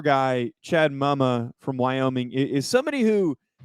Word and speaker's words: Muma: How's his name pronounced? It's Muma, isn't it? Yeah, it's Muma. Mama.